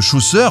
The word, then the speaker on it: Chaucer: Comme dans le texte de Chaucer , les elfes de la Terre du Milieu sont un peuple ancien voué à disparaître peu à peu.